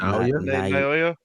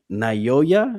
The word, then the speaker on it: Naoya: Noya. Yeah. Naoya is how you say his name.